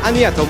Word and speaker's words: Agnetha: I know it's very hard for you to pronounce, but you can say Agnetha or you can say Anna.